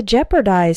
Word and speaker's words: jeopardize: To jeopardize something means to put it in danger. Note that the E-O is simply pronounced like the E in set.